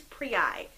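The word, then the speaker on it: Prii: approved pronunciation of the plural of prius and like a German guy stature Corky got it first it is pre I which sounds really obnoxious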